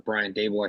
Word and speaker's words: Daboll: I assume Daboll's got to be the odds-on favorite right now for this job, or Brian Daboll, I think is the correct pronunciation.